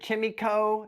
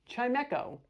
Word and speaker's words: Chimecho: I heard Chimico. It's Chimecho.